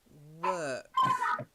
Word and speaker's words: work: Loads of people get this wrong. Work. Work. Try it. I'm sorry. I can hear you got. Myself. So I walk. Yeah. Do you want to take a break? Whilst you No. you okay? Okay. It's okay. Okay. I walk to work. You've got walk, but work.